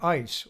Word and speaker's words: IS: People called it the IS, pronouncing it ICE or Ice Cube.